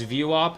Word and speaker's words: VWAP: It's VWAP and it's pronounced um it's it's VWOP.